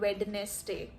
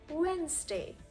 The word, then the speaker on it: Wednesday: No matter which accent you're speaking in, we can never call it Wednesday. Just unacceptable. The D is silent and it becomes Wednesday.